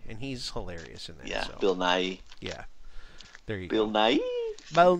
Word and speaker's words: Bill Nighy: a whole the whole bill nye here is that how you say his name or building I I think it's bill nighy so I forgot yeah